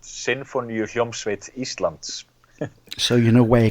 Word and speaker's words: Sinfoníuhljómsveit Íslands: Yeah, it's the Iceland Symphony Orchestra, and it's pronounced Sinfoníuhljómsveit Íslands.